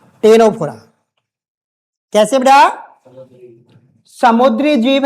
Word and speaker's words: टीनोफोरा: रखा है ये टीनोफोरा यहां सी साइलेंट आगे [नाक से की जाने वाली आवाज़] तो साइलेंट है बेटा इसलिए मुझे लिखाना पड़ रहा है इसको लिख लो ये उसको बोलते टीनो टीनोफोरा टेनोफोरा इसमें सी वर्ड साइलेंट है। टेनोफोरा बोलेंगे।